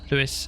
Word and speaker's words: Louis: I've heard Louis, pronounced both like Lewis and Louis. Okay. In fact, our southern accent makes it sound more like Louisville.